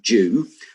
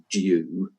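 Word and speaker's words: dew: a bit strange because it begins with a D, but we actually pronounce it like uh the first letter is a a J. Uh, in American English, a little bit more straightforward, due with a D.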